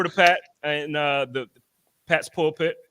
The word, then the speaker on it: Pulpit: But yo, let's switch over to Pat and the Pat's Pulpit or Pulpit. Am I saying it wrong? Yeah, Pat's Pulpit. You got it.